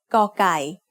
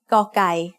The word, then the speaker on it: กอไก่: The sound of กอไก่ as the initial consonant of a syllable is g. It is very similar to a hard G or an unaspirated K.